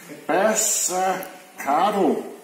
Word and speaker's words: Bassacada: Bassacado. Ja, det ender på det A, men det er et O.